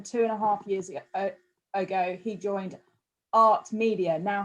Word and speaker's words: AHRT: years ago he joined AHRT Media. Now, have I said that right, Levi? Yeah, exactly right. It's just art with an H.